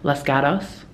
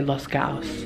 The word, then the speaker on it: Los Gatos: I sound Australian when I say it, but it's like Los Gatos. I sound Australian when I'm doing it, but like these Americans say Los Gatos, but I thought it was Los Gatos.